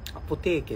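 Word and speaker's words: アポテーケ: あ、結構そのアポテーケっていう、アポテーケって読むんだよなってい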